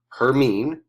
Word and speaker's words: Hermine: It is pronounced Hermine.